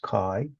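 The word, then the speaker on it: chi: The symbol of ki squared it's a Greek letter kai pronounced kai.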